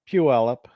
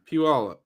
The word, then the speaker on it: Puyallup: How do you pronounce it? Puyallup. Puyallup.